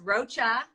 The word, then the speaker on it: Rocha: Last name is Rocha, like the bug, spelled differently.